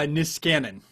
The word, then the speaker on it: Niskanen: the vice president for research at the uh niskanen center as centrist dc think tank am i pronouncing that correctly no it's uh niskanen i think i got it more or less